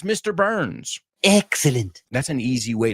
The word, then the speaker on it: Burns: for it just remember it's not burn it's burn or Barn it's not Mr Barnes It's Mr Burns Excellent that's an easy